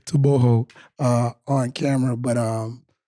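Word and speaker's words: Togo: like tooo yeah and I said it right I want to make sure I say it right to too they was getting on us for saying it like toogo they was getting on us for saying so I want to say tooo uh on camera but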